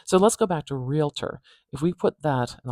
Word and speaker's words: realtor: say it another way realtor realtor we starting with the r going on with the E and then something interesting happens here instead of the O and the T being together realter a little schah sound